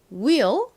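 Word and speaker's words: wheel: 소리가 난다는 거 다시 한번 더 입력해 주세요 will 한 곡식 발음으로는이라고 하는이 단어의 의미가 뭘까요이 단어는 바퀴라는 의미를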